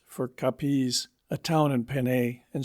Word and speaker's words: Capiz: such as saying Cavite for Cavite, the naval port of Manila, Capiz for Capiz, a town in Panay, and so on. And though they pronounce Haro exactly the same as the English